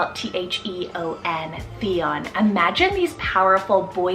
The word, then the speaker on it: Theon: it means warrior or honorable then we have theon t-h-e-o-n theon imagine these powerful boy siblings aryan and